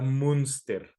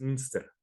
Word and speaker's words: Münster: Entonces vamos a ubicarnos ahorita en Alemania, en una ciudad llamada Münster, así M-U diéresis Münster, Münster, una cosa así se pronuncia.